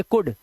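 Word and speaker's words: could: जैसे डी से पहले देखिए जैसे यहां पर डी से पहले एल है तो यहां पर पढ़ेंगे कुड।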